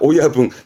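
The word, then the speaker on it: 親分: 발음은 이게 오야붕입니다. 오야붕.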